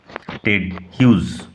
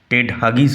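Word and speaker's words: Hughes: টেড হিউজ, উচ্চারণ লক্ষ্য করো, টেড হাগিস হবে না, টেড হিউজ।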